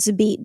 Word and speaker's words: XABeat: T so it's like it's with an X like a Z sound like xylophone or whatever and so if you